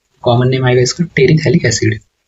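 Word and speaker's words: terephthalic acid: और जो इसका कॉमन नेम है, कॉमन नेम आएगा इसका टेरिथैलिक एसिड। सो TERE साइलेंट होता है, थैलिक एसिड।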